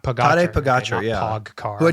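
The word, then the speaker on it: Pogačar: Like you wrote this great piece about, I'm gonna not pronounce his name right, but Pogacar. Oh, Pogacar. How do you say it? Yeah, Pogacar. Tadej Pogacar.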